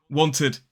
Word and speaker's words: wanted: So want is one syllable, wanted is two syllables.